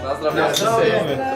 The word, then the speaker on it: na zdrowie: Na zdrowie. How do you say that in Polish? Na zdrowie? Na zdrowie.